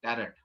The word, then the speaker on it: Tarot: तो वो कहते हैं जी हमारा तोरा को इन्होंने टैरो में कन्वर्ट कर दिया, टैरेट। और ये भी टैरेट वर्ड लिखा हुआ है, लेकिन बोलते इसको टैरो है, टी साइलेंट रहता है बाद में।